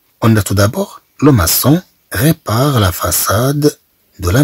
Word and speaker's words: maçon: كما نلاحظ بأن كلمة لوماسون أن السي جاءت متبوعة بأو في الأصل تعطينا الصوت كو عندما ننطقها. إذا نريد أن تعطينا الصوت كصوت إس إذا طبعا نضيف لها الجزئية لوماسون.